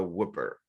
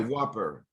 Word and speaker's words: Whopper: about and Burger King is about the Whipper and the Whopper that is right the Whopper yes I mispronounced the Whopper right and and then